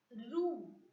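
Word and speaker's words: roue: Next, O-U, which has to be pronounced as oo. Oo. R-O-U-E, roo.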